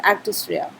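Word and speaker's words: actus reus: known as actus rhea we pronounce it as actus rea you also need a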